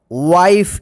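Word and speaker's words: wife: डब्लू आई एफ ई इसको क्या पढ़ेंगे वाइफ इसको विफे मत पढ़िए वा या वाइफ मत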